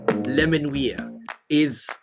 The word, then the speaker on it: Menuires: Menuires is the correct pronunciation.